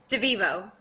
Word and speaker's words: DeVivo: How do you say your last name again? DeVivo. DeVivo, that's right.